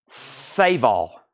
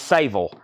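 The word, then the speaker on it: Saveall: saal as well your last name is pronounced saal saal s a v e a l l when I slow down and think about it it's not that difficult right it's saval sa like save and then all saval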